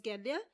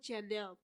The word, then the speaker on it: Genya: I used to pronounce her name as Genya, but I recently found out that it's called Jenya.